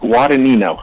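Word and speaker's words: Guadagnino: sorry I apologize my my last name is guino oh see that's why I didn't say it can you spell that can you spell that please this is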